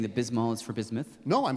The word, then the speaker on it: Bismol: yeah yeah Pepto B well you don't say B say the whole first syllable of the second word Biz Biz B what